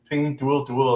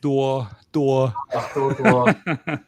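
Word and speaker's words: Pinduoduo: Not Ping Duo. Yeah, it cringes me. Like, I think a few years ago I was watching Stock Mo, and he was like Ping Duo Duo. I'm like, it's not how you say it. Duo Duo.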